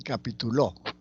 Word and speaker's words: capituló: acá tenemos unos ejemplos leemos capítulo capitulo y capituló el acento se mueve capítulo laula que tiene un significado capitulo tiene otro significado el acento está en la penúltima sílaba y capitulo el asento está en la última sílaba y significa otra cosa entonces la ubicación del